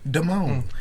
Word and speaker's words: Damon: But your name not hard to pronounce. You would think. Damone. Exactly. Damone, Exactly. Demon.